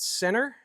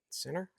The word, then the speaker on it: CEENR: is from a company called Center CE NR I think that's how you would pronounce it Center um what they give